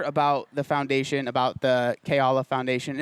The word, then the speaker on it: Keala: the foundation about the K Allah foundation am I saying it right nailed it k Allah coz I've heard some people say key Allah I heard yeah Foundation